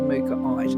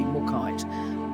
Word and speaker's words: Mookaite: Um, and frankly to be honest, I actually think that the pronunciation should be Mukite, but I'm going to go with the um, basically the consensus that everybody calls it Mukite because this is what